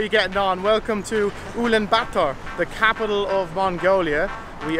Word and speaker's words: Ulaanbaatar: Say it, Ulaanbaatar. There you go. I thought it was Ulaanbaatar, but no, it's Ulaanbaatar. Kind of like getting a batter burger in Dublin.